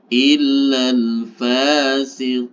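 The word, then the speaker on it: إِلَّا الْفَاسِقِينَ: Maka Q-nya ini harus dipanjangkan 4 harokat. Sehingga cara membacanya menjadi illal fasiqin.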